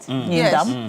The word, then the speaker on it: Nindam: And the incumbent MP um Matthew Nindam, am I pronouncing that right? Nindam.